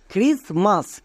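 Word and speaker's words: Christmas: আর আই এস ক্রিস এখানে টি কিন্তু silent এবার কেন সাইলেন্ট এর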